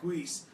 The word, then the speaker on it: Guice: Yeah, Guice.